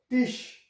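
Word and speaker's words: Tisch: So if this combination comes what type of sound it will produce? So here it will produce shh sound. So here it is tish.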